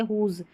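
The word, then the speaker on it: whose: देखिए यहां पर जो स्टार्टिंग में आ रहा है ना इन स्पेलिंग्स में तो यहां पर हम डब्ल्यू को नहीं पढ़ रहे हैं। ये हमारा साइलेंट है।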